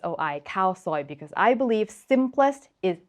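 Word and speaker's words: khao soi: spelling of cow soy but what is that H doing there nothing right you cross it out and it still reads exactly the same cow soy so why do we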